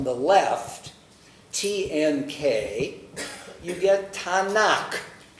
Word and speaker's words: Tanakh: tnk you get tanak the k sound at the end of a syllable is softened from k to well if it were a koof it wouldn't be but this is not a coup it's a cough a little technicality so tanak becomes tanaka okay so you